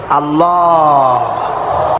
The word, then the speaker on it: আল্লাহ: নাম কি আল্লাহ না কিন্তু মুখটা গোল করে উচ্চারণ করতে হবে সুন্দর করে আল্লাহ বলেন সবাই আল্লাহ সবাই